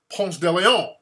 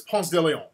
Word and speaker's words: Ponce de Leon: The name of the street is after a European explorer named General Ponce de Leon. That's like a French name. And that's the correct pronunciation is Ponce de Leon.